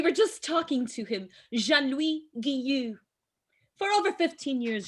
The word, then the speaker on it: Jean-Louis: So it's Jean-Louis. Jean-Louis. Jean-Louis. Jean-Louis. Juan Luis in Espanol. Okay, Jean-Louis. Yeah, you got it.